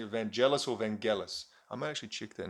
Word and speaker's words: Vangelis: I pronouncing evangelis or Vangelis I might actually check that now hang on okay this is It's Vangelis van Gillis so it's not J it's git yeah who uh of